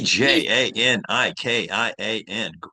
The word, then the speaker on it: Djanikian: How do you say his last name? Do you have any idea? it's Janikin? Armenian. It's Armenian. I think it's Dianikian, but I'm not sure. Janikin. Gregory well, He's Djanikian.